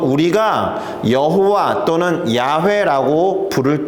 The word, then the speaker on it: 야훼: is i를 가지고 와서 y 다음에 아 W 다음에 5 hw다 hw 다음에 y를 붙여서 야호y 야훼 이런식으로 발음을 하게 된 거예요 그리고